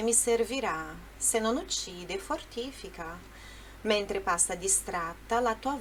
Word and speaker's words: fortifica: Só que olha só, qual que é a sílaba forte do fortifica? É o fortifica, fortifica, enquanto no português é a mesma palavra, só muda a sílaba forte, né? Fortifica. No italiano é fortifica. Ele canta assim, se non uccide, fortifica, fortifica, mas o correto é fortifica, tá bom?